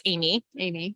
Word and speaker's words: Aimée: In France, it's pronounced Aimée, Right. but I was born in the United States. And so it's Aimée, Amy. and it's spelled the French way. So Aimee. I respond to both.